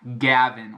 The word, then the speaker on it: Gavin: Esse o A aberto fica difícil, talvez. Esse Gavin, tipo maçã, que torna-se Apple no inglês.